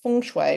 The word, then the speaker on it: Feng Shui: So I'm going to try and remember it as Feng Shui because that's how you pronounce it.